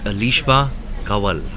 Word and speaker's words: Alishba Kawal: the production team just correcting my Urdu pronunciation it's alishba kawal there you go bit of a silent slash lazy end there alishba kawal into the leg side